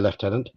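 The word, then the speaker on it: lieutenant: A3 um because the left tenants yes I'm British I'll say leftenant um stepped forward and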